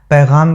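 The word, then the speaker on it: پैग़ाम: का अरमान भरा पैगाम पैगाम के ग के नीचे नुक्ता है इसलिए व है याद रखिएगा अरमान भरा पैगाम है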